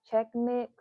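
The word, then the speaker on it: Chex Mix: like um you can have some check check check mix am I saying it right check mix is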